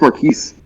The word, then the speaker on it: Marquise: I thought it was pronounced Marquis, But, it's French, isn't it? Mm-mm. Oh, okay. It's Marquise.